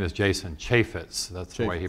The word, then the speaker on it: Chaffetz: first in the preamble his name is jason Chaffetz that's the way he pronounces it he is from Utah he did